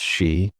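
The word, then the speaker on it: Sidhe: Here the people spoke of the Sidhi, pronounced she, mysterious beings connected to the land itself.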